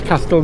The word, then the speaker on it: Castelnau: different I guess but they're wrong it's Castle now that's the original oxitan pronunciation and uh anyway so